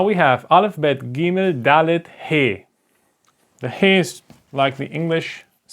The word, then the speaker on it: He: pretty easy it is called hey hey okay hey like when you say hi okay hi the sound or